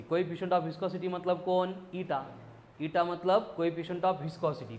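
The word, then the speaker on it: eta: इसको प्रोनाउंस करते हैं एज ईटा, ईटीए, ईटा।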